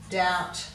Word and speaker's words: doubt: In these bottom ones, we've got a silent B in debt, doubt, subtle, succumb, and in yacht, we've got